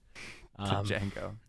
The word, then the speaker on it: Django: also watch Django Unchained Django sorry the D is silent um exactly such an